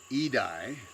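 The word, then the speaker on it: Idai: bit earlier than that cyclone it's pronounced edye hits Mozambique in the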